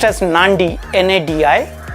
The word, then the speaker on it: Nadi: only one which is called Nadi or it's pronounced as Nandi na di it's a beautiful small airport you